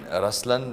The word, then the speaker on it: Ruslaan: yeah so even in raslan when you say raslan also means the LI it's the attitude of am but the right pronunciation is rlan okay there is so